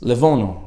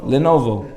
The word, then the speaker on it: Lenovo: It's Levono, right? Am I saying it right? Levono Computer Company. I was zochet. No, Levono. Lenovo. Not Nova.